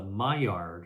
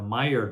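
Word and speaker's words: Maillard: golden brown that chemical reaction is called the myard reaction it's spelled m AI l l a r d the myard reaction and when you fry something at high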